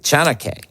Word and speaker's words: chaneque: creature known as the chanake all right please tell me i pronounced that right chanake yeah that's good so the name chanake